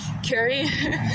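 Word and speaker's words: Kure: Curie Beach or whatever, but it's spelled K-U-R-E, Curie, but it looks like cure, you know what I mean?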